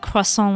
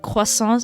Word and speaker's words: croissant: Because that's how I pronounce croissants. I pronounce it like, it's more like the French way of doing it. So I get make fun of. Because like, whenever there's a French loanword, I tend to pronounce it more like the French way, a little bit, but not exactly.